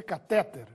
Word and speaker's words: catéter: a vida da noite catéter ou cateter apesar de as duas formas estarem corretas a forma mais usada é catéter com acento crisântemo ou crisantemo não